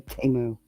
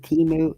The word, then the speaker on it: Temu: I've never even ordered from Temu. People all pronounce it Temu. It's Temu.